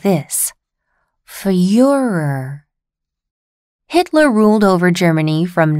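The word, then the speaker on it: Führer: the most powerful empire on earth in German Fuhrer is the word for leader and Fuhrer was what Germans called Hitler you pronounce it like this for your Hitler ruled over Germany from 1933 until 1945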